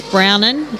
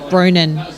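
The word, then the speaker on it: Bronwyn: So it's Brownen, as in Brown N. So I was saying Bronan, so Brownen.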